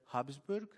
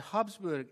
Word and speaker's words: Habsburg: the emperors for more than 600 years the habsburg that's how you say it the habsburg exercise political power in europe when emperor francis